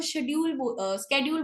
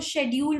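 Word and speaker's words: schedule: हैं, अमेरिका वाले इसको वो स्केड्यूल बोलते हैं, स्केड्यूल। ठीक है, क्योंकि वो सी को क प्रेजेंट करते हैं, स्के वो ऐसे बोलते हैं क। ठीक है, और जब इंडियन वाले और ब्रिटिश वालों की बात आती है तो ये साइलेंट रहता है सी।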